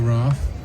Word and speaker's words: Roth: be missing my name is Michael RJ rth which is I know very hard to spell but it's the way it's pronounced so uh I was living in New